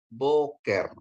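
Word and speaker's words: בֹּקֶר: dengan holom bacanya jadi ya k dikasih dengan segol bacanya ke ya atau ke ya terus akhirannya Res ya jadi Bacanya adalah boker Ya boker artinya pagi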